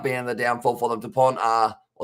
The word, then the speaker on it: Dupont: Dupont, the T is silent as well, says Karma Peach.